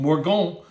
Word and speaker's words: Morgon: It's very easy to pronounce. It's called Morgon. It's not complex.